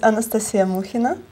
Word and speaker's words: Anastasia Mukhina: would like it the way it should be pronounced and stated. Okay. My name is Anastasia Mukhina, and You're a painter.